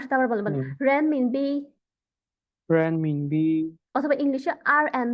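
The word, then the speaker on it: 人民币: ওরা actually RMB এর actually উচ্চারণ হচ্ছে রেন মিনবি।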